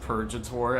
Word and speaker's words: Purgator: Or actually, it's pronounced Purgator as in purgatory.